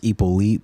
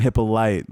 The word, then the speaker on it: Hyppolite: pronounced this pronoun was ipo elite but you know all right we'll take it we'll take it all right the h is silent that's tough yeah i